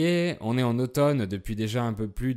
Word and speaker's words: automne: et le printemps alors on prononce automne et le mm est muet on dit être en